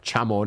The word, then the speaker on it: Chamon: And Shaman, or Chamon if you want to go with how many people originally pronounced it.